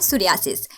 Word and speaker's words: psoriasis: English में इसे एक और नाम से भी पुकारा जाता है, सोरियासिस। सोरियासिस का पी देखकर ये मत समझिएगा कि पुरियासिस है, ये पी साइलेंट है।